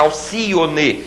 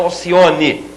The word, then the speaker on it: Alcione: a regra das proparoxítonas aucione uma avve aquática Alcione e não aucione Álibi Álibi azáfama muita